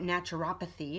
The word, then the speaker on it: naturopathy: lot of different things now naturopathy was brought or at naturopathy if you want to pronounce the accent the other way it was brought to